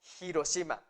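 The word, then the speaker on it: 広島: tiene que ser forzosamente hiroshima se dieron cuenta están pronunciando el h la h no es muda en el japonés jiro sima no ir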